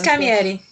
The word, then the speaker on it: Camilleri: I don't know how to pronounce it is Camilleri.